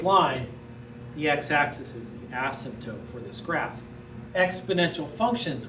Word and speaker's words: asymptote: x-axis acts as an asymptote the p is silent asymptote an asymptote is any